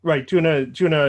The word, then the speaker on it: Djuna: Juna is, and that's spelled Djuna if you're listening.